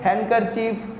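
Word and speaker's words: handkerchief: ठीक है, तो डी साइलेंट होता है। ऐसे कुछ और वर्ड्स भी है, हैंडकरचीफ, हैंडकरचीफ वी कैन नॉट से, तो हैंडकरचीफ।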